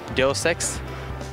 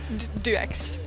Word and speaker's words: Deus Ex: Can you say this word augmentation Can you pronounce this Du x it do sexx do sex really do sex do x do x yeah x just say that One More Time